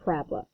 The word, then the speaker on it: parabola: pronounce this phonetically it'd be parabola but we pronounce it parabola so any that so anything that's a u